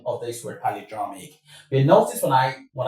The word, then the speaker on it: palindromic: But before we get to that, let me stress something real quick about the pronunciation of this word polyramic.